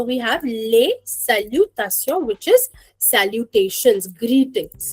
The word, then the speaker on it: salutation: Le salutation.